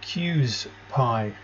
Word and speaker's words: QSPIE: yeah let's go to cues pi and that's pronounced cues like that and then pi that's what i'm calling